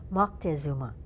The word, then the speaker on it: Moctezuma: actually not a misspelling because I guess what we call Montezuma his name is more correctly pronounced Moctezuma okay he was drinking